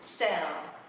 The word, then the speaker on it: sell: Âm này là âm E, quấn chữ L lên ha. L, L, L. Đừng đọc là L ha, cũng đừng là L ha, mình sẽ là E, L, L. Và nó sẽ là sell, sell, sell.